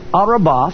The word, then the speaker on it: Arabah: very important the word for plains here is pronounced arabah from strange number 6160 and it is translated